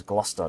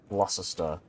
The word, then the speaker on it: Gloucester: Like Gloucester is Gloucester, not Gloucester. Right.